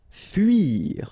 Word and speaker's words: fuir: Fuir. Okay, it can be quite tricky, especially for English-speaking persons and Spanish-speaking persons as well. This U sound. Okay, so it's not U, it's really narrow. It's U. Okay, fuir, fuir.